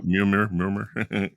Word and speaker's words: Murmur: Am I saying it right? Yeah. Murmur. Murmur. Like a murmur. Yeah. Like a heart murmur, maybe.